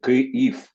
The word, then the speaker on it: Kyiv: ukrainien, c'est Kyiv. C'est pas Yves.